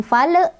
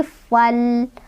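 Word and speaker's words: فَالْمُغِيرَاتِ: Cara bacanya lamnya dibaca jelas. Jangan mantul, jangan ditahan. Bukan fal, tapi falmu.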